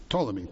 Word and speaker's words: Ptolemy: Judea and its capital Jerusalem fell under the control of Ptolemy, which had never been spelled with a P, but Ptolemy, Ptolemy, Ptolemy the First, who ruled the region from Alexandria, which was the center of Egyptian power.